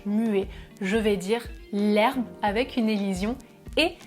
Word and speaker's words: herbe: Je vais dire l'herbe avec une élision et je vais dire au pluriel les herbes.